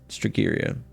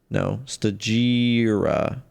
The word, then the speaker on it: Stagira: Against the Athenians and Socrates alike, from the complete works of Stratton of Stagiria. Stagira.